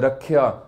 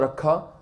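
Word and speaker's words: ਰਾਖਿਆ: So, Rakhya, it's not Rakha, but Rakhya. You have to pronounce the Yayaya.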